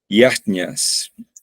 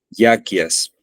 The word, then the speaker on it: yajña: O como pronuncia Srila Prabhupada, yakyas, ¿no?, que tiene muchas pronunciaciones esta palabra, debido, como todo, ¿no? Prabhupada, siendo bengalí, pronunciaba yakya, aunque en algunos círculos de sánscritólogos se entiende que es yajña.